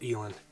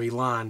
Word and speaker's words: eland: just a beautiful bull elaine or elon depending on how you pronounce it but he's down right in sight he didn't go 100.